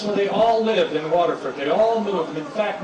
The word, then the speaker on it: Waterford: I'm from Clarkston, Michigan, but I spent 27 years living in a town called Waterford, spelled F-O-R-D, pronounced Ferd.